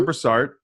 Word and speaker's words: Brassard: me today Brassard, and I think that's correct pronunciation of your name. Mm-hmm. Brassard.